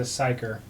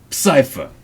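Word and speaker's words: Psyfer: P-S-Y-F-E-R. So he's a psyker. Cypher. Cypher. Cypher.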